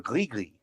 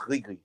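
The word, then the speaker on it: gris-gris: I think it's separate, and it's pronounced Grigri. I think the S is silent, if I'm not mistaken, because it's from Francophone Africa, even though they're using Arabic.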